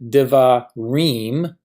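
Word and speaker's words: דְּבָרִים: So in this word, devarim, we have 2 syllables. Deva is 1 syllable, reem is the 2nd syllable.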